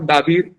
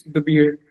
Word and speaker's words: Dabeer: When you meet the beard, it's not Dabir, it's the beard.